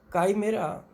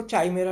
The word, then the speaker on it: chimera: काइमेरा, इसको spelling इसकी CHIMERA है, काइमेरा। कुछ पुस्तकों में इसको चाइमेरा लिखा हुआ है, गलत है वो, काइमेरा सही शब्द है।